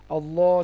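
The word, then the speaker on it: الله: তো কি বলছিলাম যে আল্লাহর লামের পূর্বে আল্লাহ লামের আগে যদি জবার অথবা পেশ থাকে তাহলে আল্লাহর লামটাকে মোটাভাবে উচ্চারণ করতে হয়। যেমন আল্লাহ। আর যদি পেশ থাকে তাহলে সেক্ষেত্রে পেশটাকেও মোটা করে উচ্চারণ করতে হয়।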